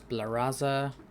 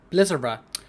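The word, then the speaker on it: Blizzara: for Brotherhood here has Titus see more does blaza sorry Blizzer why can I not pronounce i looked at the word knew what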